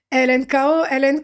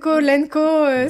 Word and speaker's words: LNKO: La première question c'est est-ce qu'on prononce elenkoen ? Lenko, c'est Lenko.